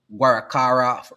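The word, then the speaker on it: Guaracara: The 165,000 barrel per day um Guarakara refinery, that's how you pronounce it, has been inactive inactive since 2018 due to high operational costs and debt.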